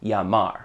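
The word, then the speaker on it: llamar: Whenever you see two L's next to each other, that makes the sound of a Y in English, basically. So the word spelled L-L-A-M-A-R is pronounced Yamar.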